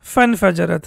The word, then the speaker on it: فَانْفَجَرَتْ: فَانْفَجَرَتْ, right? Basically, it's infajarat, but when we have fa or anything before that, then this hamza is not pronounced.